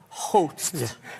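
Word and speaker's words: Howth: So, uh, when we first got here, we're we're staying now in, uh, Hot. Is that how I say it? Hot. Yeah.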